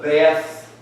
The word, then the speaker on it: Beth: Then the 7 doubles, which actually they're called doubles because there's 2 ways to pronounce the word.